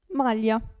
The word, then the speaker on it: maglia: e zero poi abbiamo il gruppo gli in questo caso la g non si sente aglio si legge si pronuncia lì aglio e qui maglia aglio e maglia abbiamo poi il gruppo